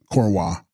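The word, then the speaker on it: འཁོར་བ: Text: Korva, pronounced Korwa, a thing whirling around, whirligig, Sanskrit sansara or samsara.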